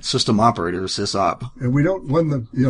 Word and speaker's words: SysOp: It's obviously SysOp because this is short for system. Right. System operator, SysOp.